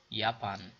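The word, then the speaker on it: Japan: یاپان، ببینید ژاپن یا ژاپن یا ژاپن، اما در دویچ برش میگن یاپن.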